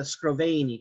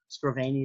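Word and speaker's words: Scrovegni: the arena chapel or also known as the scroveny chapel sproveni is spelled up here s-c-r-o-v-e-g-n-i it's called arena because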